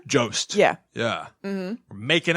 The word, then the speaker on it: Jost: Jost.